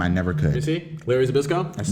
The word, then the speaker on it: Zbyszko: I cannot pronounce his last name. I never could. You see? Larry Zbyszko? Larry Zbyszko.